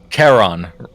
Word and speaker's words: Charon: Charon. Just imagine just calling him, hey Karen. Yeah, I think most people put emphasis on the on.